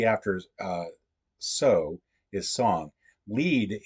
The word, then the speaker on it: Lied: uh so is song Lead is this German word for song so that is going to be a song it's a fun it's a fun different pronunciation thing it's regular so we